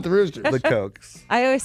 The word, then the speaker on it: Kochs: At number 2 is the Cook family. That's the brothers. Oh, the Koch brothers. The Koch. They're Kochs? Kochs. How do they pronounce it? It's pronounced Kochs.